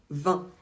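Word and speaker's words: vingt: 20 se prononce toujours 20 on ne prononce pas le T jamais peu importe ce qu'on ajoute après quand c'est 80 on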